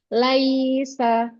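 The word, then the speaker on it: ليس: sudah bagus tapi tadi yang pertama itu dibacanya Laisa itu ada penekanan di ynya di semua huruf ya ya yang sukun ini tadi Rahmi tekan Laisa ya tapi yang diulang ini sudah benar Laisa gir ainairo nah catatannya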